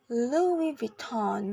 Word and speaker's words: Louis Vuitton: fashion is Lou Vuitton it's pronounced Louis Vuitton with stress in both the first and second syllables in both American in British English next Chanel it is